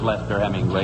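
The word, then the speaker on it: Leicester Hemingway: you're right you pronounced it right it is lester hemingway it's spelled the other way but if they're announced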